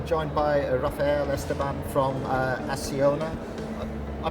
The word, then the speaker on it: Acciona: I'm now joined by Rafael, Esteban from Acciona. I pronounced that correctly. Yeah, that's always Acciona.